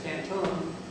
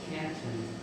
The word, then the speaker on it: Canton: And one big city there is Canton, but we know that in St. Lawrence they pronounce it Canton.